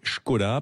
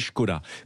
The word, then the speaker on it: Škoda: vrai que la prononciation, la vraie prononciation, c'est Skoda, parce qu'il y a ce fameux accent, et au-dessus du S. Au-dessus du S, effectivement. Et on dit Skoda.